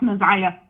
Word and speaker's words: NaZiyah: She was like, "It's pronounced Naziah."